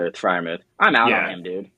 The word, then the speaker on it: Freiermuth: Freiermuth? Freiermuth.